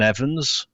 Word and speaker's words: Evans: And then we went to Sweden, where Elfyn Evans, our British driver, our Welsh driver.